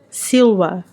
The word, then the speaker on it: Silva: o primeiro nome dele, vem do latim Silva, ou na verdade, pronúncia diretamente do meu professor de latim, Silva, né, porque eles não têm o V, eles não têm o som de V em latim, que significa floresta.